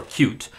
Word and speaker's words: Qt: And uh we are moving to a newer version of QT or cute uh is how it's supposed to be pronounced.